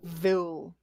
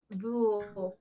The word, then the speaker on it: Vool: Vil. Vool, right. How you spell that? Like fool, but with a V.